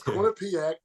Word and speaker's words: Quinnipiac: Quinnipiac. Good. That's how you say Very it. Yeah. nice call. Yes, Quinnipiac.